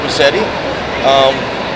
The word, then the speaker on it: Massetti: Massetti.